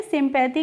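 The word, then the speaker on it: sympathy: क्योंकि फ्रेंड्स जब लास्ट में बाई होता है तो उसका प्रोनाउंसिएशन हम बड़ी इ की मात्रा करते हैं। या करके नहीं करते हैं। वैसे तो बाई से हम या बनाते हैं लेकिन जब लास्ट में आता है तो उसका प्रोनाउंसिएशन हम क्या करते हैं? इ करके करते हैं। इसीलिए सिंपैथी पढ़ेंगे।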